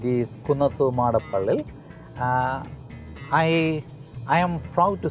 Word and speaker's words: Kunnathumadappilli: my surname and that you are right is kunafa monopoly I I am proud to say that many